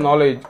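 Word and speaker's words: knowledge: म्हणजे गुडगा ठीक आहे नॉलेज किंवा नॉक नॉक म्हणजे नॉक करणे इथे के सायलेंट आहे परंतु लिहिताना नॉलेज स्पेलिंग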